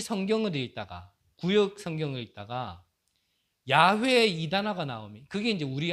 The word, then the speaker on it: 야훼: 놓쳐서 그렇지요 유대인들은이 성경을 읽다가 구역 성경에 있다가 야훼에 이단아가 나옵니다 그게 이제 우리 한국 발음으로 하니까 여호와 그렇거든요 근데 원래 발음으로 한다면 야훼이 말이 가장